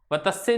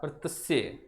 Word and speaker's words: वर्तस्य: वर्तस्य, वतस्य नहीं है, इसका उच्चारण क्या होगा, वर्तस्य।